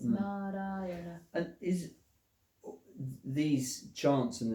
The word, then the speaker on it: Narayana: It's an expression in 5 syllables of the call of the human heart. 4 syllables. Narayana.